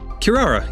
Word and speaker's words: Kirara: let's see hold on let's see how to pronounce her name Kirara yeah that's funny because that's a that's a